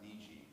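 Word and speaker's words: 虹: So, for instance, the character for rainbow, which is pronounced Niji, Yeah.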